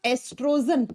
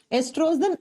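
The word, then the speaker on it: oestrogen: एक होता है बच्चा एस्ट्रोजन, लिखा जाता है ओ से, प्रोनाउंस किया जाता है ई से, ठीक है।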